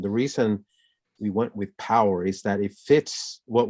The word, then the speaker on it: Powur: i decided to go with a company called power it's spelled p-o-w-u-r and and it's it has a